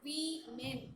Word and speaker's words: women: We should pronounce it as we men, women.